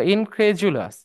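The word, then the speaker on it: incredulous: ক্রেডি সো হ্যাঁ সো ইনক্রেজুলাস ডিটা জের মত উচ্চারণ হবে হ্যাঁ স্কেজউল যেমন শিডিউলের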